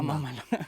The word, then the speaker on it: mamalona: Some of us Mexicans, we call it the Can you Can you pronounce it? It's We We say mamalona. Mamalona.